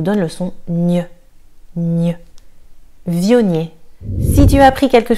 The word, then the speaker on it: Viognier: Viognier. Celui-ci, on va accentuer la prononciation sur le V. Viognier. Le G et le N nous donnent le son gne. Gne. Viognier.